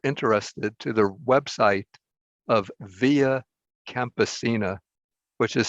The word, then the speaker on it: Via Campesina: i included in my notes a statement from via campesina on the principles of food sovereignty but my